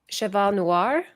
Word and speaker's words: Cheval Noir: Cheval Noir.